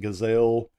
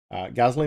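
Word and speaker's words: Geissele: that use the GLE stuff um some people pronounce it gazelle gazy it's the proper pronunciation for it is gley gazley makes a great trigger they're expensive but they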